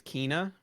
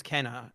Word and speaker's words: Kena: So they pronounced it in the state of play as Kina. Okay. I thought it was Kenna, and then I heard